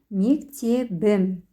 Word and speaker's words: мектебім: Когда мы к слову «мектеп» добавляем личные окончания, буква «п» переходит на парную «б». И пишется, произносится «мектебім».